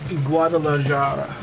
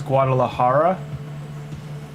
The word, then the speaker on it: Guadalajara: The J is pronounced as ha. Oh, so it's Guadalajara. Did I say it right the second time? Guadalajara verse Guadalajara.